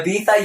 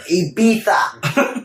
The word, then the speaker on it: Ibiza: Yeah, Ibiza, yes, of course. As I totally pronounce it like an American. My man like has like whipped it into me. He's like, Ibiza.